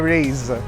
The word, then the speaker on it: Raize: pronounce this they said it's race but instead of an s it's a z so the toyota rays what we have here